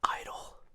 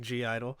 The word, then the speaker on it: (G)I-DLE: For me, until I realized how to say it correctly after like a year and a half of always saying G-I-DLE. Of everyone in the comments, like, hey, you don't have to say the G.